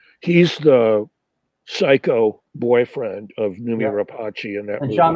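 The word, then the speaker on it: Noomi Rapace: It's Rooney how do you pronounce it? Numi Rapace.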